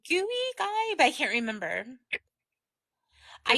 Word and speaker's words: Gui: How do you say, is it Guy? G-U-I? I'm not Is that sure. how you say it? G-U-I, Guy. I want to say gooey, but I do that's too.